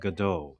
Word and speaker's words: Godot: And this one in particular I'm talking about is called GDAU. It looks go dot but it's not pronounced that way.